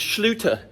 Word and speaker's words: Schluter: Schluter system yeah I said it right let's luta sealer system basically what the shooter Schlueter system is today waterproofing membrane for your shower